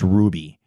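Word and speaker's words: RWBY: I've been watching is it's our wby but it's pronounced Ruby and it's the last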